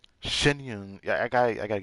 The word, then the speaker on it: Xianyun: refer to one as shenyun ah so that's how you say it she said it was such Gusto room every everybody's been saying her name R then shenyun she said it like shenyun I got I got